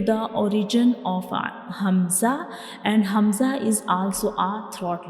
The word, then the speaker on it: Hamza: Hamza is pronounced from the bottom part of the throat.